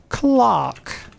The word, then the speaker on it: Clerk: one uh we've got I believe this is clerk yes this is Clerk or as it's supposed to be pronounced Clark because I am supposed to be British but